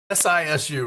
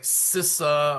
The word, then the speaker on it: Sisu: SISU, right? It looks like Sissa or something like that, but it's Sisu.